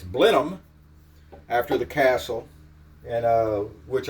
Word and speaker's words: Blenheim: know how to pronounce that, and I was pronouncing it Blenheim because that's, kind of how it's spelled. But according to my research, it's Blenheim after the castle, and which ironically is where Sir Winston Churchill was born.